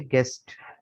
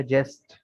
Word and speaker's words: guest: अगर जी के बाद यू हटा दें, ई होगा तो ये बनेगा जेस्ट। तो जेस्ट नहीं कहते, गेस्ट कहते हैं मेहमान को, लिहाजा जी के बाद यू लगा हुआ है। ठीक है, इससे आवाज़ इसकी गाफ वाली बरकरार रहती है।